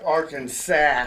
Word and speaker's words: Arkansas: Pronounced Arkansas.